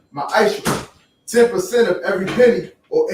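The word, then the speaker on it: מעשר: Means 10th in the Hebrew, and it pronounced ma'aisha.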